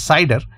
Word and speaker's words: CIDR: will use what is known as a cider notation or cidr which generally pronounces cider cider notation the full